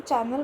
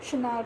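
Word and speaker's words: Chanel: आप कोई भी ब्रांड लो, जैसे शनैल, डायर, इसको शनैल को हिंदी में हम चैनल बोलते हैं, लेकिन इंग्लिश में हम शनैल प्रोनाउंस करते हैं।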